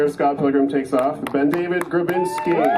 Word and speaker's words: BenDavid: It's actually BenDavid, so you're failing so bad. It's BenDavid. It's one word. Stop it. Wrong number of syllables.